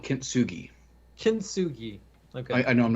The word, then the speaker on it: Kintsugi: I actually thought about like not fixing the checkerboard and doing the Kintsugi thing with all the cracks and stuff like that.